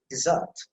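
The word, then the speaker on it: desert: i will remain silent so you have to pronounce it dessert dessert dessert result dessert you see that should be emphasized so with the stress on the second syllable and it means believe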